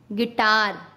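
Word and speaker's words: guitar: यू कब silent होता है? जब यू के बाद कोई वॉवल्स हो तब यू साइलेंट होता है। वॉवल्स क्या? AEIOU। अगर ये यू के साथ आते हैं तो यू साइलेंट हो जाता है। जैसे गाइल, गिल्ड, गिटार।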